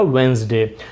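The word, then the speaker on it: Wednesday: इसका प्रोनाउंसिएशन थोड़ा सा ट्रिकी है, लिखते हम वेडनेसडे हैं, बट करेक्ट प्रोनाउंसिएशन पे अगर हम आएंगे तो वो हो जाएगा वेंसडे।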